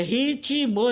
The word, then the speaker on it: ritmo: Então a gramática normativa diz que ritmo tem duas sílabas. Quando não tem, para a gente ele tem três sílabas, é ritmo e não ritmo.